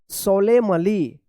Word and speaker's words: solemnly: पढ़िएगा, एन जो है ना यहाँ पे भी साइलेंट रहेगा। SOLEMNLY, सोलेमली, सोलेमली, सोलेमली पढ़ेंगे, क्या पढ़ेंगे, यहाँ पे भी क्या है, एन साइलेंट रहेगा।